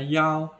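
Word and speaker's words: 幺: persatu tetapi harus diketahui angka satu dalam bahasa Mandarin dibaca yaw dan angka dua dibaca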